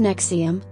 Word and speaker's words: NXIVM: inner circle confidante of nexium pronounced nexium founder keith raniere had